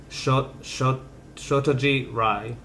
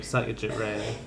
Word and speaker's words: Satyajit Ray: spells it out, but the closest pronunciation he says is Shotajit Ray, and he spells it Rye. Is about as close as one can get. Almost every S in Bengali is a soft S.